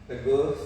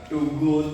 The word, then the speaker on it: Teguh: So you can Teguh. So kan biasanya tamu tuh beda pronounce-nya gitu. Biasanya bilang too good, too good. My name is Teguh ya, but not too good gitu.